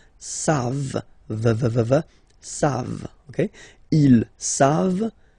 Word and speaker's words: savent: You don't pronounce it, so you get the sound savent.